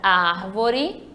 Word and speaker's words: árvore: Na palavra árvore, temos aqui, ó, árvore, 3 sílabas. Nas 3 sílabas, eu tenho aqui o ar, que é a antepenúltima, o vó é a penúltima e o ré é a última.